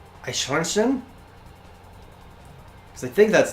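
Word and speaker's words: Eichhörnchen: Oh, the EI in is pronounced like I. I clip it just because you told me not to. Yeah, fair enough. something like Eichhornchen?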